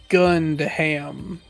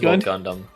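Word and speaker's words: Gundham: and Gundam as well Gundam wait it's just gunam as Gundam is that normally has yeah that's how it's spelled h is silent yeah that's how it's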